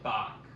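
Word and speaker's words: Boq: Glenda calls him bck so his name is Bach yeah no the entire the entire movie she didn't pronounce his name right okay that was that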